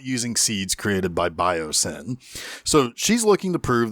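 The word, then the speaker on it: Biosyn: oh by the way this company's name biosin now it's spelled b-i-o-s-y-n but come on guys sin is in their name so they want to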